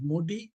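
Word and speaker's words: MODY: Modi that is actually the pronunciation is modi.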